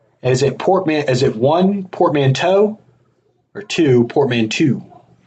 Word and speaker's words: portmanteau: Is it one portmanteau or two portmanteau? How do you say it? I feel like it's toe, because that EAU sound is bow, right? No, it can be EU too.